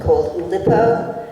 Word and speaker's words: Oulipo: school of poetry called Oulipo. It's French, so I think I'm pronouncing it right. O-U-L-I-P-O. I've heard it pronounced actually. So I pronounce the way everyone else pronounces whether it's right or not.